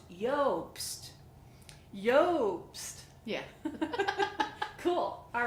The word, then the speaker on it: Iobst: a lobst vanilla it's yolks its IO BST yost but it's pronounced yolks Yoast yeah cool all right well we're gonna talk